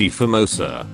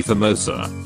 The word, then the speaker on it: A Famosa: The name is often mispronounced A Famosa, even among Malaysians, as though the Portuguese definite article A were the English letter A. A more authentic pronunciation would be Famosa.